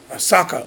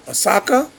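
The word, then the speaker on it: Ahsoka: She's very, very, very beautiful as far as the details, and her name is Ashaka. Asaka Asaka Tano. That's how you pronounce it.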